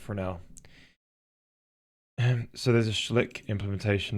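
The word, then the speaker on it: Fresnel: in PBR but it's it's spelled Fresno but the person is French so apparently pronounce it frel so there's a schlick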